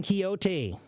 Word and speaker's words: Quixote: Quixotic comes from the word, from the book Don Quixote. Okay? So this is a funny word because in the etymology, it's Spanish where it's pronounced Don Quixote, right?